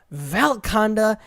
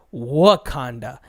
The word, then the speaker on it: Wakanda: Conda with a w in the game they pronounce it Val Conda V ALK Val Conda and man did that piss me off because it's not Val Conda it's what Conda it's not umbrella its